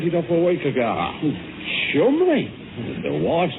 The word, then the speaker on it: Cholmondeley: Chumley... Now, it's Cholmondeley, actually. Cholmondeley. No, it's only spelt that way, my dear fellow. You see, it's pronounced Chumley.